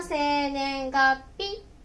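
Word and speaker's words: 生年月日: その時に、生年月日。発音は、生年月日と読みます。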